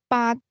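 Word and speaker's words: 八: The word pronounced with a mid-rising tone means death. Conversely, the number eight baat is regarded as lucky since it sounds very much like the word meaning to prosper.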